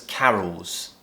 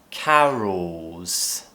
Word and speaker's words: carols: And these are called Christmas carols. Again, carol. Now try and add an S on the end. Carols. Ooh, remember to lift that tongue and create that half-produced L sound.